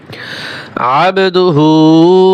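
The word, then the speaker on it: عبده: আশহাদু আন্না মুহাম্মাদান মুহাম্মাদান আব আইন বা জবর আব আইন গলার ভিতরে চাপিয়ে হবে এবং এযে বার উপরে সাকিন এখানে কলকলা হবে আবদুহু ও রাসুলুহ আবদুহু ও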